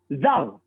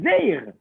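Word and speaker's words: זר: Donc ça se lit Zar, en vérité. Des Karinan. Le problème, c'est qu'on le lit comment dans la Torah? On le lit Zeir. On le prononce E. On ne le prononce pas A.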